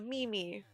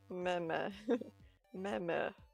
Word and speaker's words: meme: She's not She's a character, but she goes, "I am not a Mimi."